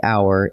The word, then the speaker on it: hour: We waited for blank hour in line. Now be careful. Hour is spelled with an H, but that H is silent, so the word actually begins with a vowel sound.